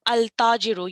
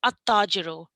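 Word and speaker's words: التاجر: So when you have al in front of it, you wouldn't pronounce it al-tajiru, you'd say at-tajiru.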